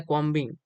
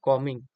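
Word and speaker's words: combing: इसका जो कॉमिंग हम मैं प्रोनाउंस कर रही हूं। क्योंकि इसका सही प्रोनाउंस कॉमिंग ही है। लेकिन इसका अगर हम इसके तरह से बोलना कॉम्बिंग कॉम्बिंग नहीं होगा। यह कॉमिंग सी ओ एम बी आई एन जी कॉमिंग।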